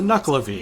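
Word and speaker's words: Nuckelavee: Now, I don't know why they're called this, but their name is spelled Nuckle, Knuckle. And here's what they look like. It's a Knucklavy. Weird.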